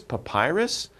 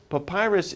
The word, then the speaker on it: papyrus: What is papyrus? Papyrus is kind of a type of paper that was very difficult to make. To pronounce this word, think of Popeye, you know, Popeye, the sailor man.